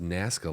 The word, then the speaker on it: Nazca: It's pronounced Nazca lines.